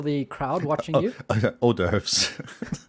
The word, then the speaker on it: hors d'oeuvres: crowd watching you okay orders no doves oh doves that's how it's spelled oh doves yeah but it's not said that way i believe it's french anyways the french need